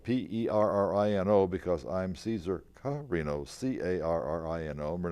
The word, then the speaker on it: Carrino: The Publicity Committee, the co-chairs of the Publicity Committee, Johanna Perrino, and that's spelled P-E-R-R-I-N-O because I'm Caesar Carrino, C-A-R-R-I-N-O.